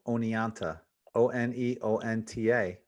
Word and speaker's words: Oneonta: of oh and E oh and ta right pronounced Oneonta either some people look at and think it's pronounced one anta it's actually anyway yeah it's gonna say you've